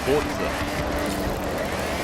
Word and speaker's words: Forza: It's not an English word, it's an Italian word. It's Italian for force. Forza.